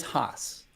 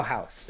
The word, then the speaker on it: Haas: is it it's Swagger Haas correct it it is Haas but you know we'll we'll allow house everyone says the house at this point house